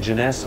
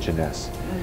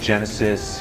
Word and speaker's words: jeunesse: we say you know the toughest part about joining this business is to say the word jeunesse some people say Genesis you know they can't pronounce it but even after six months in the business they still have a tough time but once you master